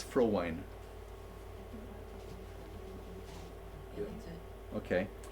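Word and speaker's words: Frowein: so so in Dutch in Dutch that when there's when there's two vowels together the second letter is the one that pronounces so it's I so it's for wine thank you that's it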